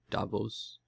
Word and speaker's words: Davos: big big meeting in Davos Davos Davos is how they say it Davos so there was a